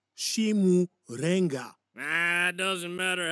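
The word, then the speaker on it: Chimurenga: I've heard it all before, Chimichanga. There's no bright future under communism. It is pronounced Shimurenga.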